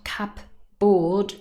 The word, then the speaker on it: cupboard: spelling it is not cup board no the board is really pronounced as but cupboard and stress is on the first syllable and then we have